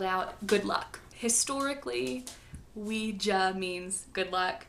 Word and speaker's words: Ouija: The creators asked the board what they should name it, and it's spelled out Ouija. That is how you pronounce it. I usually say Ouija, so don't judge me. Ouija sounds dumb.